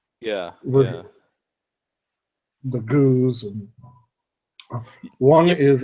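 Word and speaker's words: Gueuze: there was such a debate of how to pronounce it, and it turns out both beers do. It's Goes or Goza. Yeah. The Goose, and one is like a French style farmhouse,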